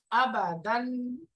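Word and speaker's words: أبداً: আবাদান পুরোটা বানান করলে কিরকম হবে? হামজা ফাতহা আ, বা ফাতহা বা, আবা, এই যে আবা, তাড়াতাড়ি টান হবে না কোনো, আবা, দাল ফাতহা তাইন দান, দাল ফাতহা তাইন দান, আবা দান, আবা দান, আবা দান,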